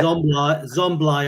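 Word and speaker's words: Szoboszlai: Zomblai, I think is the pronunciation.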